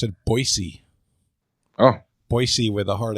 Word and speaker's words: Boise: By the Jane, way, in Idaho, they pronounce it Boise. Oh. Boise with a hard S. Oh, okay. That's good to know. Not a Z. Soft S.